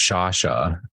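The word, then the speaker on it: Sciascia: They're told to go hide in a closet, and George from Canada, George Shasha, I know it doesn't look like that if you end up looking up his name, but that's actually how it's pronounced.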